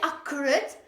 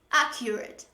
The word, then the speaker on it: accurate: We don't say accurate. Oh, there is only one K when you pronounce it, and it is accurate.